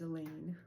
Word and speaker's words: Elaine: So like one of them is Elaine who rhymes with pain and Matteo describes her as a mix between Chewbacca and Lois Lane and there's rumors about her hurting other people.